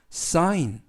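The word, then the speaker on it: sign: 뜻은 설계하다 라는 뜻이구요 에스 는 스 아이는 아이 그리고 쥐는 묵음 이고요 되는 느 s 발음을 약간 강하게 하셔서 싸인 싸인 이라고 발음합니다 뜻은 서명하다 라는 뜻이구요 쓰이는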